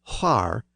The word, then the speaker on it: quhar: So where would have been more like whar, and when would have been more like when.